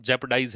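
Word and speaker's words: jeopardize: अच्छा इसका प्रोनाउंसिएशन जेपडाइज है यह।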